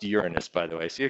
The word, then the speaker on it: Uranus: a top okay but yeah and it is pronounced Uranus by the way see a couple of you chuckling it's not your anus okay that's something else not a planet okay